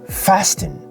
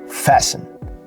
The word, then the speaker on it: fasten: listen listen awesome fasting so instead of fasting like fasten your seat belt you wouldn't say fasten you will say fasten fasten your seat belt